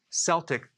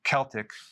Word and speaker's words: Celtic: So I do not recommend consuming sea salt unless it's Celtic sea salt, or it could be pronounced Celtic.